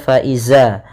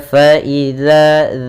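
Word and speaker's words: فإذا: ada Mad thi'i kemudian harus hati-hati dalam pelafalan dalzal jangan terbaca faizza jangan terbaca dengan bacaan dza tapi dia faidza dza kemudian Hum ada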